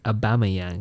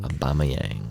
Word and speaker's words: Aubameyang: of you Pier emmer aubameyang aubameyang abama kind of like Obama yeah it's actually quite